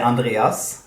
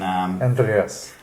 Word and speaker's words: Andreas: would be here in Sweden, I would say Andreas. And that's very typical. Maybe the name is very common in Germany. So they would pronounce it almost the same as well. Same in... Andreas.